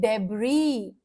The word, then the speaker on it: debris: The earthquake left piles of debris. The earthquake left piles of debris. The earthquake left piles of debris. S silent है, S silent है। The earthquake left piles of debris. S is silent here.